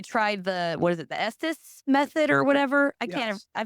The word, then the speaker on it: Estes: We tried what is it, the Estes method or whatever? Yes. I feel like I can never I pronounce it. pronounce it wrong. I call it Etsy, like the Etsy website.